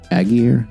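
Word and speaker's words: Allgeier: I'm glad they did that um uh Tyler aguir that's how you pronounce his name ran really well 17 for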